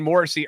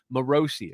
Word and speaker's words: Morosi: morosi by the way people are saying Morrissey are earlier and I it got in my head morosi is how you say it um he thinks that